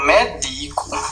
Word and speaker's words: medico: É importante, pessoal, veja, cuidado que existe a palavra médico e existe a forma verbal medico, do verbo medicar, né?